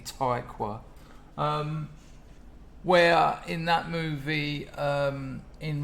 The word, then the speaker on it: Tykwer: German director Tom Tykwer. I bet that's how you say it, yeah. It's definitely Tykwer.